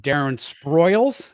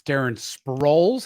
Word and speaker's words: Sproles: Elo, I think you pronounced it Darren Sproils. It's Darren Sproles. I think you combined Sproles and Spoils together.